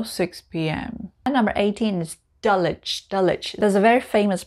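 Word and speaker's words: Dulwich: p.m number eighteen is dullich dullich there's a very famous private school there it's called dulich again we don't pronounce the w so we just say dullich we don't say dolwich it's itch very b-u-r-y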